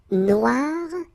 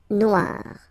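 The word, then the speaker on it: noire: you will have to add this at the end of Noir for the feminine form but then you don't pronounce it okay so phonetically it is exactly the same no Noir okay G don't pronounce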